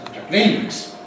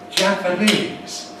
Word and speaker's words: Japanese: It isn't Japanese, it's Japanese. Japanese. Japan, but Japanese. Who are those people over there? Oh, there's some Japanese. Japanese. But they're Japanese tourists. Japanese tourists. When we've got another word following with a strong stress, then we suppress the second of these two. And so you hear Jap as the only stress.